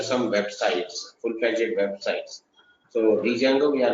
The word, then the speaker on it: Django: actually we call it as Django. D is silent.